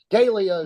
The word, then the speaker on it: Galia: hello your honor yeah my name g Galia is good gay sounds it's good okay all